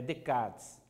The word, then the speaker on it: Descartes: Gente, a pronúncia é Descartes. A escrita pode estar com um S aqui, um S no final, tá? É francês, se eu não me engano, seriam Descartes.